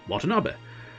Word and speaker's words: Watanabe: actually pronounce them but some of them like watanabe turned up in uh yakuza as a name and that's why i know it's i'm fairly confident in being able to go ah it's uh watanabe um rather than any other pronunciation it could have been but uh yeah it's